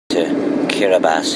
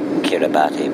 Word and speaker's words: Kiribati: Kiribati here. It looks like Kiribati, but it's pronounced Kiribati.